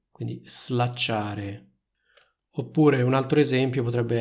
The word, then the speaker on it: slacciare: sono slacciate le scarpe quindi il suono della s in questo caso è più simile al suono della S intervocalica che troviamo in una parola come Rosa Quindi è una z non è una s notate la differenza slacciare e slacciare oppure slacciate e slacciate